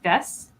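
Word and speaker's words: です: end your sentences with des, and it's kind of spelled des, DESU. Yeah, but you don't pronounce the U; it's just des.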